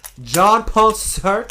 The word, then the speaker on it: Jean-Paul Sartre: Jean-Paul Sartre. Jean-Paul Sartre. Not John.